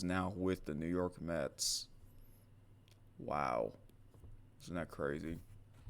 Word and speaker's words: Mets: Oh, I forgot he is now with the New York Mets. Wow. Isn't that crazy? The M-E-T-S. Mets, because it rhymes with Jets.